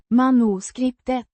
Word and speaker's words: manuskriptet: Pronounced. Mah-noo-skript-et.